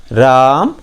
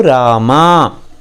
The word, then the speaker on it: रामा: हिंदी में हम राम बोलते हैं, कन्नड़ में बोलते समय उसका पूरा उच्चारण आता है रामा। इवनु रामा, इवनु राम है ऐसा मत बोलिए, इवनु रामा। आ की मात्रा जोड़कर ही बोलिए, तभी कन्नड़ का उच्चारण सही होगा।